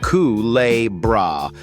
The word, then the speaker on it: Culebra: Kicking off our countdown at number 10 is a speck of an island pronounced Culebra, floating in the warm waters east of Puerto Rico.